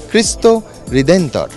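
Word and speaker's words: Cristo Redentor: মূর্তি দেখতে একবার আসছেন এরা পর্তুগিজ ভাষায় একে বলেন অনেক কষ্ট করে উচ্চারণটা শিখেছি তাই আপনাদের শুনিয়েই ছাড়বো খ্রিস্ট হৃদেন্তর এই খ্রিস্ট রিডেন্টার বা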